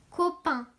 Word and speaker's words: copain: Alors, si on le regarde, il y a la première syllabe co et la deuxième qui est très longue. Pain. On a le son P et ici, on a ce 1 de main avec 3 lettres A-I-N.